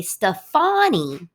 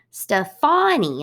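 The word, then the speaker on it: Stéphanie: say it in france in france they say stefani stefani and they put the emphasis on the second syllable and so if you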